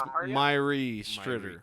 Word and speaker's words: Mháire Stritter: How do you pronounce her name? Maria? It's Mháire Stritter.